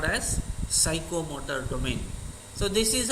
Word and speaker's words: psychomotor: domain, affective domain and psychomotor domain. Here P is silent.